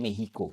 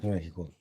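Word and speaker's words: México: Mexico. Bacanya Mehico. Mehico. Mehico.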